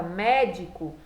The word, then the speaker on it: médico: Já a palavra médico, quando eu faço a separação silábica, aqui eu vou ter a última sílaba, aqui a penúltima e esse mé a antepenúltima.